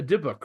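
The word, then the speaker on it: dybbuk: a parable and it's a um uh a diok right is that how you say it deok yeah yeah um so this guy comes in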